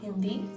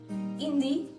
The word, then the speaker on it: Hindi: Hindi. H is not pronounced.